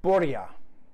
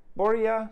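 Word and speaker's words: Borja: are going to borea borea spain borea borea b-o-r-j-a i think the j is silent in the spanish language boy yeah spain uh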